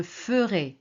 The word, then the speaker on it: ferai: Vous voyez ici c'est faire. Donc c'est a I faire. Et on prononce je ferai. Ferai pas ferai.